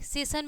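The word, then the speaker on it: session: एन आ रहा है तो जब आई ओ एन आएगा तो एस का उच्चारण क्या हो जाएगा आपका बड़ा स हो जाएगा ठीक है तो एस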